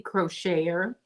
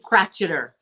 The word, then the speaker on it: Crocheter: Hello, Quilty Crocheter. Or do you pronounce it Quilty Crotcheter? Some people pronounce it Crotcheter.